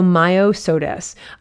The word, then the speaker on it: Myosotis: entomology um here so maya sodis myosotis um m-y i'm trying to break it up so you can hear that myo m-y-o so myo-sodas um this is a